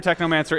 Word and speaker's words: Technomancer: It rhymes with my favorite book, Necromancers, or Neuromancer, Technomancer.